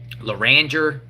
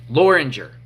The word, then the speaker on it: Loranger: How do you say it? Loranger, Louisiana. Kind of sounds like Loranger.